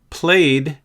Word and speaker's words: played: Played has a d sound. Played. In addition, shouted has an id sound.